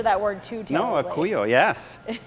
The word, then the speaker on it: acuyo: We have a question from Virginia, and I'm going to mispronounce this word. It's acuyo, A-C-U-Y-O.